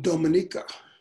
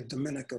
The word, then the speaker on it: Dominica: Anyway, I was going through a bunch of these Caribbean islands and I landed in Dominica. That's the correct pronunciation. A lot of people say Dominica, but that's not the way it's said.